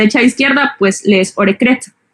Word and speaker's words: Orecrette: con una adicionales es como si lo leyeras orec crete pero se pronuncia orec Y es que en el idioma inglés o